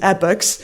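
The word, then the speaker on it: epochs: had to look up how to pronounce that word it is epics um but what it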